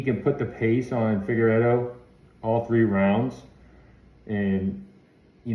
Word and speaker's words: Figueiredo: Figueiredo, okay?